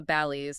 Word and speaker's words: Balis: The Bailey's. the Bailey's or uh the text says it's sometimes pronounced the Bales depending on the regional dialect, right?